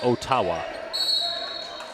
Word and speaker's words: Ottawa: 26th to March 1st I believe they pronounce it o tawa sure Jason pronunciation grammar